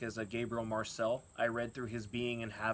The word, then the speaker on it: Gabriel Marcel: So if you like more existential philosophy, you should try Gabriel Marcel, or Gabriel Marcel in French. Better way to pronounce it.